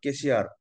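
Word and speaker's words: cashier: পাশে আছে একটা ওয়ার্ড কেশিয়ার, হ্যাঁ এখানে কিন্তু ইয়ের হচ্ছে না, এখানে ইয়া হচ্ছে, হ্যাঁ কেশিয়ার, আয়ের উচ্চারণ রসই ঠিকই আছে, বাট ইয়ের উচ্চারণটা একার না হয়ে আকার হয়ে গেছে, কে শিয়ার।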